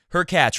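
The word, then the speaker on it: Khachanov: not a good draw her catch rhymes with latch he is a next-gen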